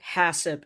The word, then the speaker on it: HACCP: let's start with what hassip is so also let me just clear up right now hasip is HACCP but I'm pronouncing it hassip um hassup is basically